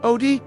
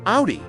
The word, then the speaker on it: Audi: Odi, what? Why don't you pronounce it Audi like a normal person?